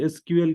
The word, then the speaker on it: SQL: Okay, तो ये पहले एसक्यूएल के पहले इसको सिक्वल कहा जाता था। ठीक है, तो इसलिए मतलब इसको सिक्वल प्रोनाउंस करते हैं ऐसा नहीं है, ये सिक्वल ओल्ड नेम था एसक्यूएल लैंग्वेज का।